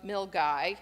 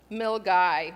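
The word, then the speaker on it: Milngavie: small pretty town of milgai and that's spelled m-i-l-n-g-a-v-i-e milgai we all had to work to make sure we knew how to say it so that we could get there it runs north from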